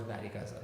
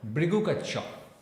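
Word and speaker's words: Bhrigukachchha: What is Barigaza? Barigaza is basically, again, a mispronunciation of the word Brigukacha.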